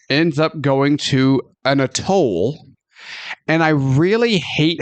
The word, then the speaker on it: atoll: in this movie pronounce atoll, because they don't say atoll, they say atoll. As in like, oh, look, I need to go up to that booth and pay a toll, not a toll.